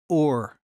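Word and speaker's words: עור: in hebrew is pronounced or get that so in hebrew you pronounce skin or the same as same as light except it's spelled a little bit different in this case it's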